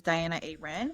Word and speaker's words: Dianuh Aerin: personal account which is Diana Aren. And it's spelled, pronounced normal, spelled funky.